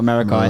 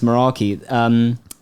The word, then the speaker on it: Meraki: always mispronounce it. I always say like Meraki or something like that, Merakai. Meraki. But it's Meraki.